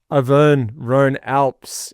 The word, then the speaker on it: Auvergne-Rhône-Alpes: Southam, what's the pronunciation of the new race? Auvergne-Rhône-Alpes is the correct name of the race.